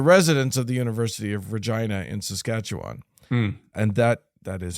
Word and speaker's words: Regina: quarters, at the residence of the University of Regina in Saskatchewan. And that is how you pronounce it. I'm sorry, everybody. For those of you who weren't prepared for me to say Regina.